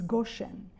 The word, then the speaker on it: Goshen: Many of these estates had Hebrew names taken from the Bible like Mahanim, Sukkot, Gosen, pronounced in modern Hebrew as Goshen, Carmel, Cayam, and Rama.